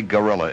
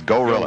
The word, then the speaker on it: Gorilla: Don't you say Gorilla in Philadelphia. It's Gorilla. Gorilla, yeah.